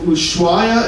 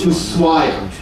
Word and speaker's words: Ushuaia: once we arrive here, you'll hear locals say both Ushuaia as well as Ushuaia. The exact pronunciation isn't really known. It comes from the local indigenous language, and nobody's around who actually speaks that language natively anymore. So the exact pronunciation is unknown, but you will hear both.